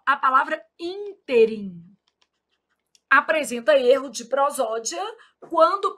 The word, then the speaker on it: ínterim: A palavra interim apresenta erro de prosódia quando pronunciada como oxítona. O povo vai lá e fala assim: Ah, nesse inteirm, inteirim, gente, é moço de 50 anos, de 60 anos, com a barriga sarada.